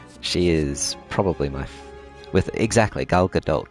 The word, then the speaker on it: Gal Gadot: She is probably with exactly Gal Gadot, but it's like it's a T at the end, but like a soft T.